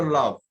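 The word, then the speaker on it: lavent: Love, LAV, then ENT. This ENT is never pronounced. So only we pronounce the love.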